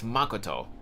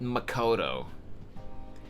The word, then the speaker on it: Makoto: bug me it's not it's not supposed to be Makoto the emphasis is supposed to be on the first syllable it's Makoto not Makoto Makoto is uh the Americanized pronunciation which it's not a